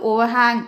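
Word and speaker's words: overhang: ஆனால் இதில் வர்ற ஆரை நம்ம உச்சரிக்கவே கூடாது. ஓவர் ஹேங் அப்படின்னு சொல்லணும்.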